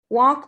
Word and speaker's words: walk: so we so we walk or walks to work we walk or w a l k the l is silent in the verb walk fulfilled but we don't